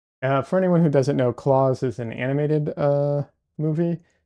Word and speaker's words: Klaus: You loved Claws more recently.